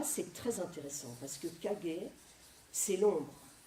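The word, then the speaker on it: 影: Alors Kage, là c'est très intéressant parce que Kage, c'est l'ombre. Ça se lit Kage en japonais, en chinois, enfin en sino-japonais c'est in. C'est le in du yin.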